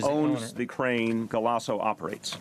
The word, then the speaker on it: Galasso: Can you spell that? Galasso. And the company that the crane? G-A-L-A. And it's Galasso.